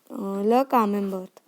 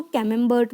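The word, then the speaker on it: Camembert: Okay, और English में इसको कैमेम्बर्ट बोलेंगे, फ्रेंच में कामेम्बर्ट। ओके, टी का प्रोनाउंसिएशन नहीं करेंगे, कामेम्बर्ट, और इंग्लिश में बोलेंगे कैमेम्बर्ट।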